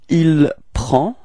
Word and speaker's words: prend: Il and elle, so masculine, il, we get il prend. Okay, so same pronunciation, final day is not pronounced, so it's